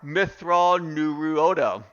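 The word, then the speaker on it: Mitth'raw'nuruodo: Or Mithral Nuruodo. Okay, Mithral Nuruodo. Okay, that is his name and the proper pronunciation for him.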